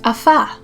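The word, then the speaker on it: אפה: The Hebrew word for bake is afah. Baking cookies sounds really yummy now. Afah is spelled Aleph, Pei, Hey.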